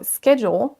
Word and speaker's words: schedule: Donc là, on va tester le mot schedule ou schedule avec les deux accents. Donc on a l'accent UK d'abord. Schedule. Schedule. Vous entendez qu'on démarre avec son ch et c'est la première syllabe qui est accentuée.